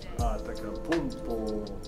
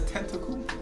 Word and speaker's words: Antetokounmpo: Antetokounmpo.